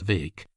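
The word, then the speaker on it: Bheag: McCrae little farquar or farquar vake bheeg pronounced vake as he was euphoniously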